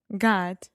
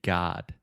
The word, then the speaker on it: God: 99 of Americans say God think about the vowel sound here and I sang and oh like good good no this is the ah sound just like platform God